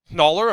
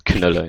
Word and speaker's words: Knöller: I don't blame you for saying it wrong in German because it's a very sort of particularly German name, but it's Knöller in German.